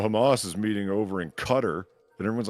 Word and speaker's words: Qatar: is meeting over in Cutter and everyone's like pronouncing Qatar like properly and it's over in Cutter and it's like okay